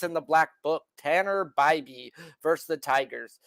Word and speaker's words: Bybee: the black book Tanner Bybee versus the Tigers spelled Bibby but we will pronounce his name the right way on the show by B he gets the Tigers